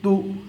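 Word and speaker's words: تُ: Now we have to pronounce this one Ta Pesh Tu.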